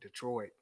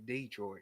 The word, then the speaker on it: Detroit: Michigan got to say it Detroit, but in Alabama you say Detroit. You got to put the emphasis there when you say it. You got to say it right.